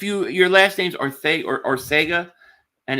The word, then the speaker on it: Arcega: And then if your last name's Arthega or Arcega and it's pronounced Arthega, stay the hell away.